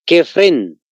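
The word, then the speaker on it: Kefrén: importante se llama kefren con cada kilo igual se escribe tal como se escucha kefren ahora interesantemente kefren mide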